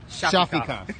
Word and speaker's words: Shafikov: So Wednesday night, It's Shafikov. Shafikov, yeah. See, perfect.